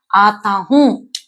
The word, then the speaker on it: आता हूं: Okay, so இந்த வருகிறேன் அப்படிங்கிற வார்த்தையை ப்ரெசன்ட் டென்ஸ்ல எப்படி ப்ரொனவுன்ஸ் பண்ணணும் அப்படின்னா आता हूं, आता हूं, आता हूं, आता हूं.